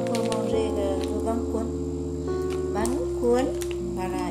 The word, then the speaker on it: bánh cuốn: Bánh cuốn, voilà, il faut prononcer bánh cuốn.